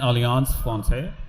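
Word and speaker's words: Alliance Française: So we're in collaboration with the French Embassy and Alliance Francaise. That's how you pronounce it.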